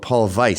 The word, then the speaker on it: Paul Weiss: But actually, it was this white white shoe firm called Paul Vice spelled with a W, Paul Weiss.